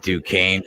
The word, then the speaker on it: Duquesne: Pronounce it right. Good try. Duquesne.